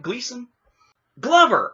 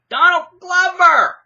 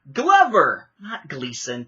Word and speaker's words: Donald Glover: be that for me say it right Gleason Glover I don't know why I'm saying Gleason Glover Donald Glover as Lando see I haven't cared enough to even pay attention to the names it took me basically until last night to try to figure out how to say Ehrenreich and I'm still maybe saying it wrong it hasn't done it anyway Glover not Gleason Turner is a Gleason